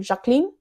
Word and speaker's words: Jacqueline: And you have to say her name, Jacqueline, because she's French. That's just how her name is said.